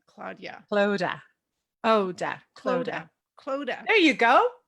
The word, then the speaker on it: Clodagh: think of Yoda, It rhymes with Yoda. Claudia. Clodagh, Oda, Clodagh. Clodagh. There you go. Clodagh.